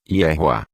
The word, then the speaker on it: Yehoah: Para chegarmos à pronúncia completa do nome do Criador, basta pegarmos a pronúncia do tetragrama no nome de Josué e acrescentarmos a pronúncia do último rei com o som de A. Teremos então a pronúncia completa como Yehoah. A pronúncia Yahweh acontece quando o nome do Criador é inserido após alguma outra palavra, como por exemplo, após a palavra El.